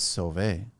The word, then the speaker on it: Sauve: right sorry construction and it's spelled even though it's spelled s-a-u-v-e that's right it's survey uh three years so right before cobit yes right at the beginning of Kobe January 1st 2020.